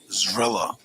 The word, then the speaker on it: Zrilla: Zrilla is how it's pronounced.